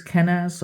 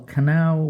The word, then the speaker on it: Kenaz: Now, for the next one, this is in reverse, and this is Kenaz or Kanao, whichever way you want to pronounce it.